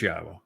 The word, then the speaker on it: Yahweh: It is Yahweh.